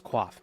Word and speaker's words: coif: Like, it's not Coif, it's Quaff, but it's spelled Coif.